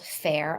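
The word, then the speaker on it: Faire: somebody had asked in our Facebook group about fair for wholesale if you want to dress oh that's right yeah so there is a website called fair I'm sure some of you have run across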